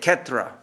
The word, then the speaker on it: Kshetra: The Bengalis will say it Kshetra, because when you get an S after a K in Bangla, in Bengali, they pronounce it a little bit like a aspirated H, or like an H, Kshetra.